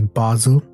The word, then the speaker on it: Basel: The proper pronunciation is Basel.